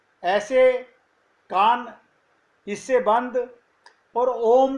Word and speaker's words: ओम: हाँ, मुंह से नहीं निकलेगा, मुख से नहीं बोलेगा। ओम का उच्चारण अपने आप नासिका से निकलेगा। जब आप भर्तिका करते हो तो किसी मुख से बोलते हो ओम? हाँ नहीं, ओम अपने आप का, ओम का उच्चारण नासिका से होगा।